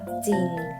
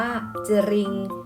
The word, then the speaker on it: จริง: จริง อ่าน ว่า ว่า จริง ไม่ อ่าน ว่า จะ Ring แบบ นี้ ไม่ ถูก ต้อง นะ คะ พยัญชนะ ต้น ศ.